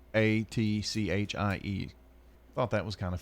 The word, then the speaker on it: Sequatchie: Well, the pronunciation, I guess the E is left out. But Sequatchie.